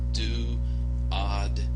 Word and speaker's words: duodenum: It's duodenum.